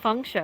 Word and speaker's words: Feng Shou: asking Because the his per- name is because not he- Fang, it's Feng Shou, I believe. Yes. Funk Show. Gotcha. Fang is what he just says because that's his like Western like pronunciation Yeah, of it.